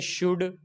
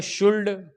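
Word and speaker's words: should: एल आ गया है तो एल क्या होगा, साइलेंट हो जाएगा। इसको हम ऐसे पढ़ेंगे, शुड, कुड, वुड। इसको शुल्ड, कुल्ड, वुल्ड ये नहीं पढ़ेंगे।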